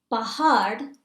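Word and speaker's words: पहाड़: Pahad is mountain, and there's a duh sound at the end.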